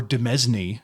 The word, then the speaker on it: Demesne: There's no reason Domain couldn't, or Demesne, if we want to pronounce it correctly.